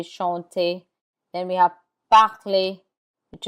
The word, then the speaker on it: chanter: There are exceptions to that rule, and the R is not pronounced in words that end in ER. This list of words are mostly verbs like danser, to dance, danser, chanter, chanter. The ER has an A sound like AY, danser, chanter.